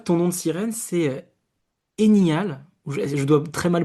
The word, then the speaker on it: Eniaël: Marie-Ange, je vois que ton nom de sirène, c'est Enial. Je dois très mal prononcer, mais tu peux nous dire comment on prononce ton nom de sirène, Marie-Ange? Alors, mon nom, c'est Eniaël. Ok.